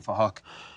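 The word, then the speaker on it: Phuc: We're spelled with a PH, so it sounds like Fahak.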